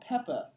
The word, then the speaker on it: Peppa: I love this well it's called Peppa Pig not pepper pig peppa do they say Peppa instead of pepper no like it's spelled p PPA Peppa Pig but it's just the way they say it it's like Peppa it's it's as if a British person said pepper is this where she